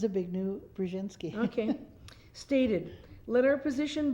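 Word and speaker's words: Zbigniew Brzezinski: reportedly written by carter's hawkish national secretary advisor zavignou brzezinski how do you pronounce that it's a big new brzezinski okay stated let our position be absolutely clear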